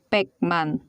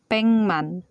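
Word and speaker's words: 백만: Shipman Shipman 1 million if you read this one this is Peck man but the proper pronunciation is hangman hangman 10 million there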